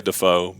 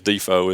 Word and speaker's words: Defoe: it's easy I mean a lot of people look at it and they they want to say defo but uh but yeah it's actually the correct way is defo is to pronounce it and it might have